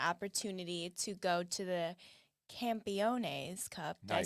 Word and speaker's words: Campeones Cup: So last night we had the opportunity to go to the Campeones Cup.